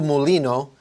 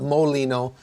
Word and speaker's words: Mulino: said his name wrong his name is Jose rul Molino Molino m l i n o not Molino which would be like uh calling him hamburger uh but so Jose